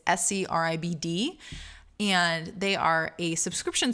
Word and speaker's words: Scribd: I've heard some discrepancy over how that's pronounced. It's Scribd.